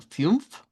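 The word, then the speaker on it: fünf: Vea, coneriular, que es el número cinco debe sonar como fiumf. Fiumf, vea como una unión u de i u.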